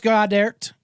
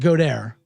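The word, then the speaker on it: Goedert: Dallas Godert. I pronounce it Godert because that's what I do.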